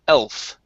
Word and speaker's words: elf: okay so here uh you do need to pronounce that that l sound instead of elf with an u it's l elf the f there you go that's